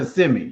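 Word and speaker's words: Kissimmee: But it's pronounced CMI, you know.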